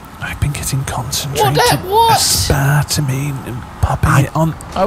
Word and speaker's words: aspartame: I like the spartamine. Fucking Coke Zero. Is that how it's said? Sorry? Aspartame.